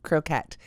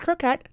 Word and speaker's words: croquette: And in this episode, I get to show off Red Heart Croquette. Now, it's pronounced croquette, not croquet, which is what I initially wanted to say when I first saw it, but it is adorable.